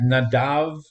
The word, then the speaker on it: Nadab: read on I want you to think about nadab I hope I'm pronouncing it correctly who no in Hebrew with nadav okay uh by the way are you are